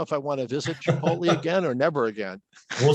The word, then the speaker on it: chipotle: talk about the word chipotle nahuatl name for smoked dried jalapeno it's t and l so tempting to transpose that some believe nick nolte is its rhyme maybe your dad pronounces